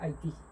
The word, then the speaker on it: Haití: Se pronuncia Haití.